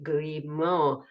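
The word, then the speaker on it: Grimaud: this is the ground the Mad Maximo and it's spelled g r i m a u d grimo and then I was going for 15 pounds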